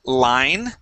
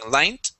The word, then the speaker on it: line: Let's go to the word line. Okay. Here you pronounced a T at the end, saying line. Okay. Practice ending with the N.